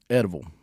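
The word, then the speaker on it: Eddyville: Eddieville. Edible. That's how they say it down there.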